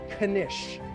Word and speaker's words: knish: it like everyone's like oh do i pronounce the k do i not let's set let's put it to rest it's kanish and it's a jewish potato